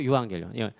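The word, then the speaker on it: εὐαγγέλιον: 토 유앙겔리온인데 자, 유명한 애니메이션 에반게리온은 저 토 유앙겔리온의 에반게리움 독일어 발음을 일본어식으로 옮긴 거고요.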